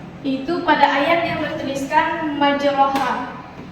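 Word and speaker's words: مجريها: pada ayat yang bertuliskan majroha. Ayat ini dibaca imalah miring, yaitu menjadi majreha.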